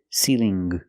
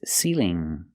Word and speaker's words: ceiling: say I make the sound in my nose ceiling there's no G I cannot say ceiling it's ceiling ceiling example this is a